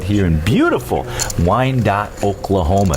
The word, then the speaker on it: Wyandotte: I think I said Wyandotte a few times, but it's actually Wyandotte.